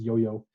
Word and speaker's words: IOIO: IOIO is pronounced yo-yo, which it takes a bit of tinkering.